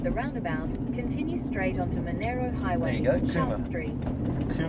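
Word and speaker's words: Monaro: In 400 m, turn left onto Monero Highway B23. Okay. They're saying it Monero, but it's spelled Manaro.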